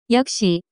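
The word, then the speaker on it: 옆에: where is the pen yep she play whistle the pronunciation of this word is closer to yup she notes similar to the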